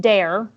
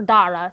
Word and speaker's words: Dara: the other uh protagonist dare or Dara technically is how you say his name I yeah it's Irish Gaelic so I do my best to pronounce it but sometimes it just comes out wrong you're like I just